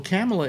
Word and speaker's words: Kamala: biden accidentally colored camel today um yeah well camella is how it's pronounced actually let me get back to the